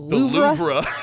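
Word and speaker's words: Louvre: Uh, people have been calling it the loura. Well, that's how you say it in French. Well, that's how you say loura is how you would say it if you were speaking French.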